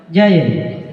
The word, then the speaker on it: Gian: Sama tulisannya itu di Makassar ada namanya Gian, tapi bacanya Jayen.